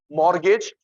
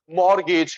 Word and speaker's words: mortgage: गिरवी के लिए 3 वर्ड होते हैं, मॉर्गेज, MORT, टी साइलेंट होता है, MORTGAGE, या सिक्योरिटी, या कोलेटरल।